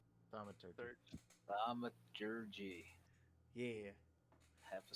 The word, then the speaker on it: Thaumaturgy: And I light one up using my, how do you say that's thermagy? Thaumaturgy.